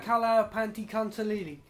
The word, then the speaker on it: Tlahuizcalpantecuhtli: Right, we can't pronounce it. This god. Kala Panti Kantalili.